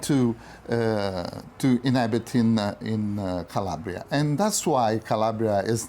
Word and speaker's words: Calabria: You know the pronunciation correct in Italian is Calabria and it's the name of a part of the tribe of Messapi.